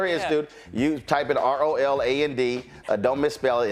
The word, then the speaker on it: Roland: All right, so if y'all go to her institute, you type in ROLAND. Don't misspell it. It ain't Ronald. It's ROLAND. You get a 15% discount.